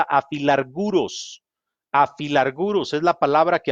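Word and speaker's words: ἀφιλάργυρος: Al decir el pasaje, sean vuestras costumbres sin avaricia, el escritor está usando una palabra griega que se pronuncia afilarguros.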